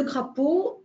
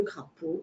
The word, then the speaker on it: crapaud: Le crapaud, on ne prononce pas le D, comme le canard, on ne prononce pas le D.